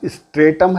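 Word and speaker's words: stratum: American pronunciation स्ट्रेटा है, स्ट्रेटम है, या उधर स्ट्रेटा है, और ऑक्सफोर्ड है स्ट्राटम और स्ट्राटा।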